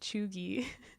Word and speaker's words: cheugy: something but i'm pretty sure it's spelt c-h-e-u-g-y pronounced chugi and honestly it's really fun to say but